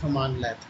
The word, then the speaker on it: cmdlet: command but in PowerShell we pronounce them as come on let s cmdlets or come